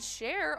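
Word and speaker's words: Cher: Tacoma yeah another win and we also had share over at VFW Austin taking home that $23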